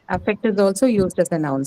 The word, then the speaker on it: affect: next one is effect affect s yeah it can be a verb and hence it's going to be stressed on second syllables affects her the first